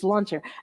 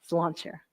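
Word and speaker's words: sláinte: so my sister said a way to remember it is it's salcher and we think it means cheers and to your health and uh Fant chair is how you say it oh all right this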